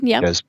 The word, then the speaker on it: sous vide: good example would be sous vide cooking. Is that correct? Yeah, Did I mispronounce? Sous vide, yeah, sous vide.